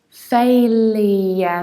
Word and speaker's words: failure: second word is something that i mostly hear pronounce like failor or sailor whereas we should say failure there is double yacht failure failure failure failure